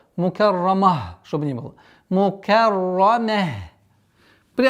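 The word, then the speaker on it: مكرمة: Ра здесь твердая. Мукаррамah. После твердого ра нужно быть внимательным, чтобы мим не произносилось твердо. Мукаррама, чтобы не было.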